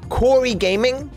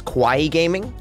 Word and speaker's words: Corey Gaming: Corey Gaming, whose name I mispronounced as Kawaii Gaming, I don't know why, I may do that again.